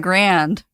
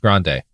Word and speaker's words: Grande: You probably hang out with your favorite singer, Ariana Grand. Sophie, it's pronounced grande.